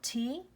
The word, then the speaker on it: Tagus: And that's spelled T-A-G-U-S. Also they also pronounce it Tagus.